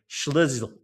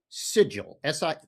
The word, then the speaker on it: Szczygiel: It is simply sigil. Think of it Sigel, sigil. Sigel. Okay, good.